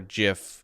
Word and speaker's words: GIF: So the creator's name is Steve Wilhite, and he says, the Oxford English Dictionary accepts both pronunciations.